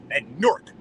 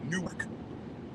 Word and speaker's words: Newark: all over me for pronouncing Newark like a New Yorker, because that's how New Yorkers say it, Newark.